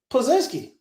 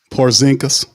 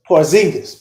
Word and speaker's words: Porzingis: how the hell Micah Peavey is guarding uh Pazinski. And wait, did I say his name right? Uh, talking about the the the unicorn. They gave him the nickname unicorn. Porzingis. Porzingis.